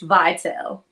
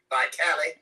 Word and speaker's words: Vitale: First of all, tell people how your name is actually pronounced. Vital. I know. See, I do it like that hair stuff. Vitale. Remember that from back in the day? And my husband said, honey, I don't think that's how it's said.